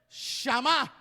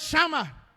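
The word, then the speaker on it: שמע: Shama. Es la misma palabra, pero acento en la A. Ya no es Shama, ahora es Shama.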